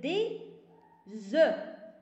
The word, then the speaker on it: œufs: اما الا بغيت الجمع نقول لك دي زو، واخا كتكتب الاف ولكن ما تنطقهاش.